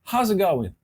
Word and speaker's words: How's it going: ó is it going mas eles não falavam assim a pronúncia eraa How's it going How's it going que